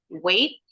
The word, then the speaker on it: weight: Karena bunyi kata yang ini weight, the GH is silent, weight.